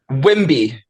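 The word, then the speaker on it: Wemby: Wimby. That's how I pronounce it.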